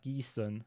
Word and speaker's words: Gießen: It is usually, for instance, Gießen. Yeah, Gießen. It's pronounced like that. But if it's like a short double S, then it's not with the S set.